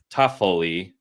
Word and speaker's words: Toffoli: Our spelling bee champ, Tyler Toffoli, because that's how it should be said phonetically.